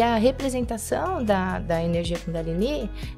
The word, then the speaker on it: Kundalini: Kundalini, que é a pronúncia correta.